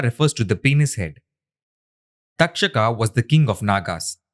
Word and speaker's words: Takshaka: Takshaka can also be pronounced as dakshaka. Duck plus shaka.